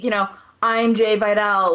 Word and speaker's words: Jai Vidal: uh the giant vidal jai vidal jay vidal yes because it's spelled like jai yeah i don't know